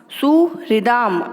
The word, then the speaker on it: सुहृदाम: सुहृदाम, है में री की मात्रा है तो री का उच्चारण भी होना चाहिए, सुहृदाम, ठीक है।